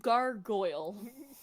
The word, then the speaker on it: gargoyle: It's pronounced gargoyle. And she laughed at herself, and she went, gargoyle. And I'm like, you're putting the emphasis in the wrong place.